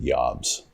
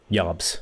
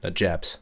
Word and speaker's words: Jabs: His name is pronounced Jobs. Jobs. So not Jabs. Well, see, I called him Jabs all the way through high school, but you know who set me straight on that?